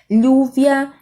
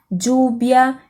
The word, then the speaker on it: lluvia: Também temos diferença nesse fonema, dependendo do país que eu tô, tá? Lluvia, lluvia, lluvia, tanto faz, aí a pronúncia estão corretos.